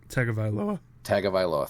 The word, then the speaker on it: Tagovailoa: and I'm not even going to try to pronounce his last name because I'll butcher it. Tagovailoa.